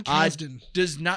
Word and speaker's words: Kasdan: John Kasdan, I think is how you pronounce his last name. John Kasdan.